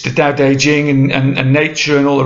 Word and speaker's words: Tao Te Ching: via something called the Tao Te Ching, which is spelled T-A-O, separate word D-E, and then Jing, J-I-N-G.